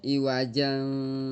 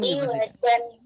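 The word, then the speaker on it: عِوَجًا: Jadi jangan iwajan tapi baru bisa mulai qoyiman gak boleh iwaja kayak gitu ya.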